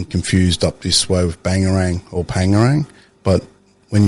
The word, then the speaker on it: Bangerang: So people will get confused up this way with bangarang or pangarang. But when you pronounce it traditionally it's bangarang. So if you go bangarang bangarang it sounds like a b or a p.